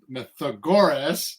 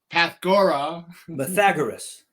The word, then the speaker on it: Pythagoras: The Greek philosopher and Greek mathematician, Pythagoras, I said it wrong. Okay, I'm going to go with Pythagoras. Pythagoras. It's not Pythagoras. Pythagoras. Pythagoras.